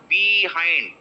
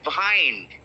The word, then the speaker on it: behind: can pronounce so behind it's not behind it is behind behind behind i know it is